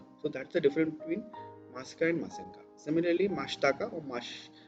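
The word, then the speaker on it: ます: But while pronouncing, the su is actually devoiced. It's pronounced as su, mas, des. Okay, so not like desu or masu.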